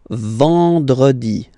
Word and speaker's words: vendredi: Then, E-N, nasal, and it's en. En. So remember, vendredi. Vendredi. Vendredi.